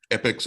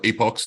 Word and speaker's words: epochs: and you can watch the epics or epochs depending on who you are and how you say it roll roll on him